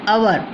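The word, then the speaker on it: hour: ऐसी अवर, H silent है, अवर हो गया।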